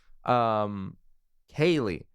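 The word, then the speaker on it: Cailee: Kaylee, starring Kaylee Spaney, then yeah, you can do all the whole catch up.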